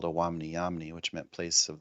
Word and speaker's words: Owamni: back for a moment to uh talk about Awamni. Am I pronouncing that correctly? Awamni.